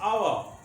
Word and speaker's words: hour: H is consonant, but how we pronounce our? H is silent.